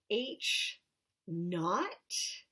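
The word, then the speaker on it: H₀: we could read it we can read it as looks write read as H naught that's how you would spell it but it's like I'm not like a KN ot not H naught H o or H no so whenever we see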